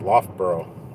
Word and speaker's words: Loughborough: She calls it Loughborough. It's Loughborough. At least that's how everybody's always pronounced it as long as I can ever remember. Loughborough, not Loughborough.